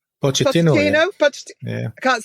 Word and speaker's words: Pochettino: Pochettino.